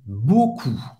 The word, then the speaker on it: beaucoup: merci, muito obrigado, merci, beaucoup. E a U tem o som do O, mais uma vez, o U tem o som da letra U em português, e o P no final é mudo.